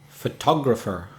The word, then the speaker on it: photographer: But a person who takes photographs is called a photographer. How many syllables? Four syllables. 4 syllables. Which one is stressed? This time it's the second syllable. Absolutely. So, de-da-de-de. Photographer. Photographer.